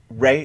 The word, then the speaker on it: Rey: like I think uh Rey is that how you is that how to pronounce that Ray yes okay uh I think you